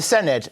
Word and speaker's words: Senedd: OK, the Senedd, when you're...